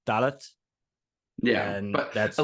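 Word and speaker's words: Dalot: So I think they pronounce the T in Delo. So I would say Delo, but I think it's like Dalit.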